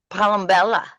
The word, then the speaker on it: Palombella: And your last name, Palombella.